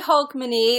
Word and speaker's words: Hogmanay: I was gonna say hogmanay.